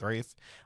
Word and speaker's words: Ralph: pronounce his last name I did figure out wraith it's not Ralph it's wraith uh who played Voldemort